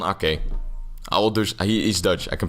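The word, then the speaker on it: Aké: Why am I trying to pronounce this in English? It's just Nathan Ake.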